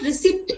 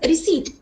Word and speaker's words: receipt: It is not receipt, it is receipt. P is silent in number 7.